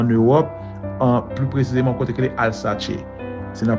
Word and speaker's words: Alsace: 11e siècle en Europe, plus précisément côté que Alsace. C'est la prononciation comme ça, c'est ALSACE.